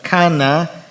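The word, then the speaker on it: קנא: En el hebreo la palabra para celo, la transliteración se pronunciaría algo así como cana, que es aplicado solo a Dios y que implica fervor.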